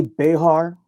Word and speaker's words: Bexar: Yeah, and we pronounce it Bear. The X is silent. That's right. That's right. Bear County. I remember that. Yep. Other people may say Behar, and that's correct too.